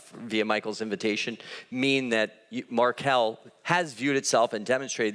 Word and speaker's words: Markel: was gonna be talking some of you might have said Marco so not only not heard of you didn't how to pronounce it so it's marquel we've learned that much today but you need